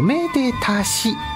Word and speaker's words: めでたし: というのは恩に愛する甚だしいと書いておめでたしと読むんだそうです言われてみれ